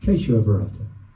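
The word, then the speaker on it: Keshava Bharati: Thank you for correcting me with my pronunciation. Queso Barata.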